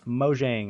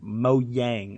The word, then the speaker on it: Mojang: Number 9, Microsoft has officially purchased Mojang, or Mojang, I believe it's actually pronounced, which is the creator of Minecraft.